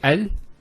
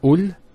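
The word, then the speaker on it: ال: that the Hamzah al-Wasl is always pronounced with a fatha. Not a kasra and not a dhamma. So it's always a, al-Bayt, al-Qamar, and so on. It's never ul, it's never il. It's always al.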